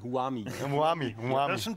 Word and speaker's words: Who Am I: Und das wird aber italienisch ausgesprochen, Huami.